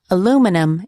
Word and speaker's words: aluminum: hard to understand different accents the word is pronounced aluminum in American English but I believe the accent